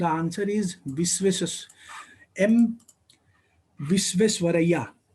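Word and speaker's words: Visvesvaraya: The answer is एम विश्वेश्वरैया. इसका जो correct pronunciation है एम विश्वेश्वरैया.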